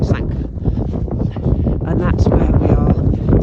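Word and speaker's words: Sanquhar: Don't know if you can see that already, but that down there is town Sanka, which is spelled Squa something, but anyway, apparently they call it Sanka.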